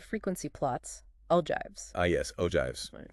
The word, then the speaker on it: ogives: Ogives pronounced ogives.